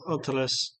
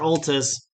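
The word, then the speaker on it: Oltus: uh the court the courtyard and mayor uh otiles is actually I'm saying it wrong I'm reading it wrong o-l-t-u-s all this mayor Altis is kind of there and it says you've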